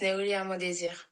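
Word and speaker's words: Nérilia Mondésir: This is Neulia Mondesir.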